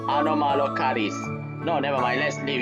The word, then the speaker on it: Anomalocaris: アロマのカリス。 It's Anomalocaris. No, never mind. Let's leave your pronunciation issues aside for the moment.